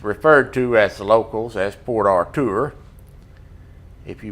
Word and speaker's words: Port Arthur: uh which is referred to as locals as Port Artur if you pronounce it Arthur to them may look at you like you